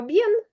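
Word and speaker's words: bien: поки що почуйте що слово б'єн це ніби б м'яки знак є н б'єн але воно пишеться з б'єн Потім ми ще До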